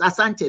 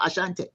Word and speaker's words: Asante: There's no H. It's asante not ashante.